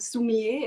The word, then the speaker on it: Sumi-e: The Japanese technique is called Sumi-e. It's spelled S-U-M-I and E.